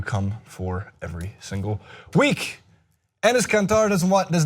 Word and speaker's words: Enes Kanter: Enes Kanter does not buy Kevin Durant's apology.